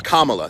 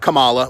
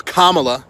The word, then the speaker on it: Kamala: Okay, Kamala Harris, and by the way, that's how you pronounce her name. It's Kamala. Think Kama, it's not Kamala, which I'm guilty of saying. It's Kamala Harris, okay?